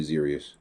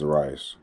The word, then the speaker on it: Zaras: The teacher calls me Zerius. It's pronounced Zaras.